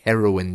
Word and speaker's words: heroine: want to meet your heroine your favorite actress hero the feminine form is heroin not like the drug but it's pronounced the same uh that's what it